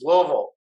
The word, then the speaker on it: Louisville: would always get corrected when i was in louisville uh you know that's louisville you know and uh south louisville south louisville it's louisville you know you know we're putting a little